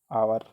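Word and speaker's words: hour: हम य नहीं पढ़ेंगे आवर है ना इसको पढ़ेंगे हम आवर ठीक है या फिर आर हम बोलते हैं ऐसे आप इसको पढ़ेंगे तो इसमें एच साइलेंट हो जाएगा तो ये क्या साउंड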